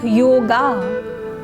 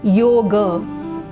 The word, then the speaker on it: yoga: as we spell it, we don't pronounce it like yoga. The real pronunciation is yoga, because yoga is a Sanskrit word, and A is pronounced as A.